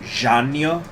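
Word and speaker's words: Jânio: i looked it up first name is i guess supposed to be pronounced giannio uh and the cuadros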